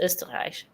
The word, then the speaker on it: Österreich: In German, it's Österreich.